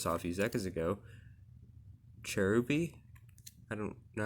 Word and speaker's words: Cherubi: that i just saw a few seconds ago cherubi i don't know how to pronounce that one pachurisu chimeko honda edge churibu i oh i need to learn how to pronounce that right cherry boo cherry boo there we go and marowak and so see